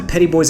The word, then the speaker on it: Petit Bois: We're going to zoom down in to the Gulf of Mexico to the Petit Bois Explosives Anchorage Area. [yes, they pronounce it PETTY BOYS] You see on my instagram that the radar is making a sad face.